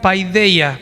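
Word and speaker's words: παιδεία: La palabra disciplina viene de la raíz griega paideia, así se pronuncia.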